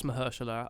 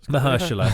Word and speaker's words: Mahershala: I think it's Mahershala Ali, but yeah. Mahershala, thank you. You can do pronunciations.